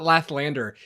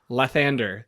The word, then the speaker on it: Lathander: It's not Lathlander, it's Lathander.